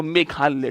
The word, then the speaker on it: मेघालय: मेघालय नौर crack मेघालय इसकी spelling होती है एम ई जी एच ए एल वाई ए मेघालय बोलते हैं इसको मेघालय ठीक है इंग्लिश में